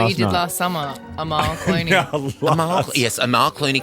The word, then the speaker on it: Amal: It's pronounced Amal.